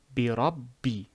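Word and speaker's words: بِرَبِّ: You have to pronounce it twice, because one letter is a sukoon, the other letter has a kasra. Bi. Bi rabbi.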